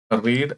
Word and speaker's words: read: നമ്മൾ റീഡ് എന്ന് പറയുമ്പോൾ അത് പ്രസന്റ് ആണ്, എന്നാൽ അതിന്റെ പാസ്റ്റ് വരുമ്പോഴത്തേന് READ എന്ന് തന്നെയാണ് എഴുതുന്നത്, പക്ഷെ റെഡ് എന്നാണ് പറയുന്നത്. അതാണ് റെഡ്.